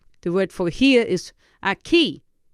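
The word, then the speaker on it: aquí: word for here is a key how would you spell a key the the k sound in Spanish is spelled with a Q so a key would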